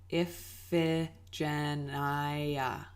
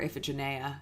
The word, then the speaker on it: Iphigenia: sacrificed his daughter Iphigenia you can practice saying it with me if Jen I or if a Jenaya is also another pronunciation option so that is what